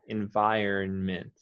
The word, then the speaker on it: environment: environment environment in environment now you do want to say the n okay not too strong but it is there environment environment environment i don't